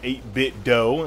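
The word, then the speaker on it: 8BitDo: the jump and also get a m30 by 8-bit dough and that's for those out there still don't know how to pronounce a name you don't say mint in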